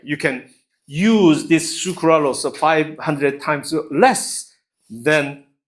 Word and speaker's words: sucralose: can you read this how would you pronounce this say it sukuralos sucaros sucralose great yes true Cruise sucrose versus sucralos okay sounds fish smells